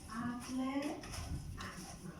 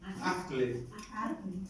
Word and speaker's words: Acle: Acle. Esa se pronuncia la E. Acle.